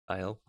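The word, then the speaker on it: Thiel: You can, Peter Tile, if your name is pronounced as it is written in German. Tile.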